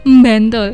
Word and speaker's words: Bantul: Kalau orang Bantul asli itu ada M-nya, Bantul.